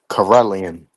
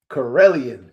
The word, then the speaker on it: Karelian: Corellian. Corellion. Corellian.